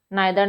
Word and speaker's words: neither: यस, आइदर भी है, हम दोनों ही प्रोनाउंसिएशन करेक्ट है। आप इसको इधर भी कह सकते हैं, आप इसको आइदर भी कह सकते हैं, आप इसे निदर भी कह सकते हैं,